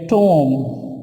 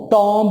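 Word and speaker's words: tomb: यहाँ पे नंबर जो 20 है, इसको हम इस तरह से बोलेंगे टॉम, टॉम, टॉम्ब नहीं, टॉम्ब नहीं आपने इसको पढ़ना, बल्कि इसको आपने किस तरह से प्रोनाउंस करना है, टॉम। B silent, टॉम।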